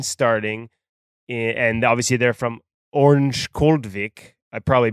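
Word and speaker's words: Örnsköldsvik: was the Sedin starting, and obviously they're from Orange Koldvik, I probably butchered that, but everyone over there told me just to say Ovik because that was the cheat code.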